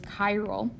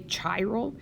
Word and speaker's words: chiral: probably want to say chiral but it's not the CH I extends or it comes from Greek the Greek letter Chi and so you would